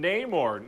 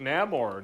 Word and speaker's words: Namor: what's the threat oh it's freaking Neymar Namor no more how do you pronounce that you know everybody in the movie is going to say it differently I guess it's true it's true all these people are like it's no more I'm like did the wakanan say name or the whole movie can we stop with